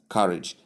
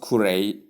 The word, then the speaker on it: courage: So, simply know that the word courage is pronounced as courage, not courage. Courage and not courage, whatever people may have been calling it.